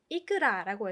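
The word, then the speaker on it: いくら: 근데 이끄라라고 할 때 이 발음을 조금 조심하셔야 돼요. 높낮이라고 하죠. 이 어떻게 하냐? 이끄라 데스까? 라고 하면요. 이끄라라고 올라가게 되면요. 약간 연어 알이에요? 이런 느낌으로 들려요. 왜냐면 이끄라라고 하면 연어 알이거든요.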